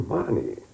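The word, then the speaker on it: Mahony: And apparently the way the Irish pronounce M-A-H-O-N-Y is, I can't quite say it, Marnie.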